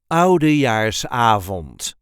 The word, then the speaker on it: Oudejaarsavond: We pronounce it as Oudjaarsavond or Oudejaarsavond. The emphasis is on the A of avond.